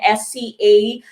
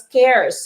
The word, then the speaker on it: scarce: is a noun adjective form usually filipinos would pronounce it as cars no young s-c-a-r-s-e uh scars no spelling or c-e uh but that would be pronounced as scarce okay scarce for you pronouncing adjective formula scarcity